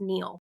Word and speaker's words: Nile: which by the way Nile is actually pronounced Neil um so connect uh